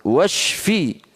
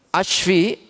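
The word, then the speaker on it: واشفِ: Bacanya washfi ya. Jangan hati-hati kalau baca ini karena jauh sekali maknanya. Washfi. Washfi itu sembuhkan. Tapi kalau kita baca alifnya ashfi, bahaya itu.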